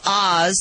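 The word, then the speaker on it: Ahs: The Land of Oz, that is spelled A-H-S, as in, oh, what a cute baby, now has its own pet limo complete with curtains so no one can see who's really inside.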